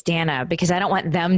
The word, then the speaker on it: Dana: I find in interviews I always tell people at the beginning it's Danna because I don't want